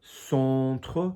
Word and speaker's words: centre: So centre, so chest, centre, en e, au milieu, mid place, milieu.